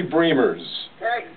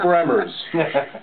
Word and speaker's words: Bremers: well what is that my name is pronounced dreamers which all the people have talked to me know it is ladies and gentlemen Bree murs forget primers as in bremerton I don't everybody everybody